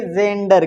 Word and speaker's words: gender: अच्छा बताओ ये क्या लिखा है, GENDER, बताओ ई आया कि नहीं आया, तो पढ़ेंगे जेंडर, क्या पढ़ेंगे, जेंडर, है ना।